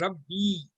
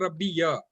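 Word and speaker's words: رَبِّ: So that is pronounced as Rabbi, not Rabbi ya.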